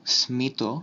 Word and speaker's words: স্মিত: কিছু তৎসম শব্দে ময়ের মতো উচ্চারিত হয়, যেমন কুষ্মাণ্ড, স্মিত, শুচিস্মিতা, সুস্মিতা, কাশ্মীর, আয়ুষ্মান, আয়ুষ্মতী ইত্যাদি।